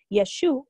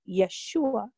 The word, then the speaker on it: Yeshua: Actually, Yeshua or Yeshua is how Jesus' name is pronounced in Hebrew.